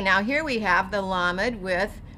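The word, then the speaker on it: למד: Then we're going to come over here, and remember the dashes under a word or lines under a word are going to say ah. So we're going to have la med.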